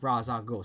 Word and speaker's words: Ra's al Ghul: And Carmine Falconi, or Carmine Falconi, people don't know how to pronounce that name. Kind of the same way with Ra's al Ghul.